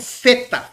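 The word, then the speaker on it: θήτα: é uma letra terrível tem gente que pronuncia para facilitar como feta feta lá na Grécia é assim feta feo Mas é uma língua e a língua pega nos dentes e sopra tem que soprar ó feta lembra da t lía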